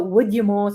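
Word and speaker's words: Udyamo: or somebody did so would you more so u-d-u-d-y-a-m-o is like wood as in w-o-o-d so would you mo is how you say it or would would you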